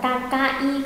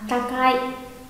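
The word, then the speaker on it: たかい: Có đọc là takai không? Mà đọc là takai, takai.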